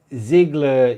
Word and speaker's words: Ziggler: but it's alright I'm out or whatever Z Ziggler you're saying it right beautiful yeah why can't words be spilt the way they're pronounced they're going to be pronounced differently don't